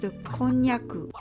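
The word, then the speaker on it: こんにゃく: Konjac is pronounced Konnyaku in Japanese.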